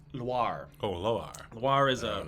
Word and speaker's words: Loire: Not noir. Loire.